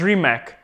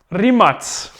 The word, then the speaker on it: Rimac: know these guys as Rimac let me tell you something it's pronounced yes anybody got a guess I pretend like there's an audience here there's not really it's pronounced three mutts you know what else